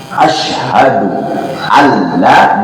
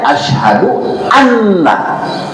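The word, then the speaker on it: أشهد أن لا: kalimat asu allaahaallah batalatnya Jadi dia mengharkan katanya apa ya huruf nun yang mestinya harus diidkumkan pada kalimat Ashadu Alla Dia membacanya Ashadu anna Batola batal katanya apa tasyahadahu tasyahudnya laridatanu karena kenapa meninggalkan tasdid pada kalimat yang mestinya diidamkan Ashadu Alla Alla Alla gitu P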